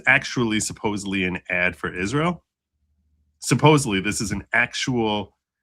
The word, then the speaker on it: Israel: around bikinis and they don't pronounce it right. It's it's Israel. Yeah. But they're pronouncing it is real. Like it's is real.